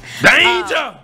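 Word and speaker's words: Dainja: Haggerty and Illinois big Dane Danger? Yeah. Is that how we pronounce? Danger!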